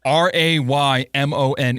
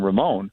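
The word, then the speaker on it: Raymone: R A Y M O N E. Yeah, like Raymon. Raymon. Yeah, that's Well, that Yeah, cuz that's different than Ramon.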